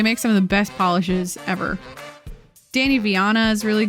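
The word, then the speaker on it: Pahlish: Polish, but it's spelled P-A-H-L-I-S-H is very good.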